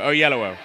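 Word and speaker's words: Oyelowo: Oh, on both sides of yellow. Oyellowo.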